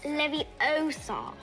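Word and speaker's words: Leviosa: someone's eye out besides you're saying it wrong it's Levy Oar not round two there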